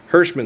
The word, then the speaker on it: Hirschman: Hirschman Steinschneider, that's how we say it. Herschel would be the German pronunciation, but the Yiddish pronunciation would be Hirschman.